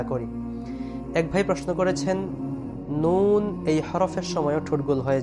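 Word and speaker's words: نون: নুন হরফের নাম যখন আমরা উচ্চারণ করব নুন তখন নুনের উপর কিন্তু পেশ আছে।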